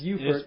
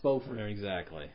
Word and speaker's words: Beaufort: Well, actually, in South Carolina, we call that It's Beaufort. In Beaufort. North Carolina, it's pronounced Beaufort. Exactly.